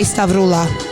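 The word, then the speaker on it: Stavroula: If you can say Kardashian, you can say Stavrula or Stavrula. If you can't roll your R, I will forgive.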